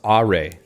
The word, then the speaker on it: Arei: see Andrew says uh AR is pronounced AR I guess okay that